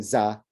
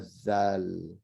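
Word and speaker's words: ذال: They can never pronounce it right because they're so used to saying za, that, and it's not za, which is a z, right? It's a zal.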